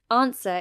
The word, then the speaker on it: answer: Answer is both a noun and a verb with stress on the first syllable.